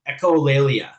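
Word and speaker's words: echolalia: Um and then uh someone mentioned in the chat um echol I always pronounce it wrong. Echolleia, that's what it is.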